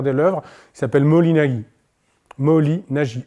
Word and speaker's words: Moholy-Nagy: Moholy-Nagy, N-A-G-Y. Moholy, M-O-H-O-L-Y, comme ça se prononce, quoi.